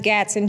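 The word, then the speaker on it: Gadson: And last name is Gatson, G-A-D-S-O-N.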